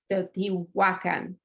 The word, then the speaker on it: Teotihuacan: So the correct pronunciation is Teotihuacan. So you do the accent on the second to last vowel, not on the last vowel.